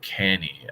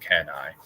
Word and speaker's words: Cannae: I wonder why he's calling it Canny. I've never heard it pronounced that way. I've always heard it pronounced Cannae, but who knows?